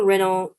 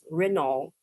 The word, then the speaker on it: Renault: So it's Renault. Some people say that Renault. Some people say Renault. Renault and Renault. Okay. UK typically says Renault. Emphasis on the first half of it.